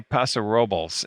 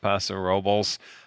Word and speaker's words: Paso Robles: I looked it up the other day because I think they actually say Paso Robles is how they say it.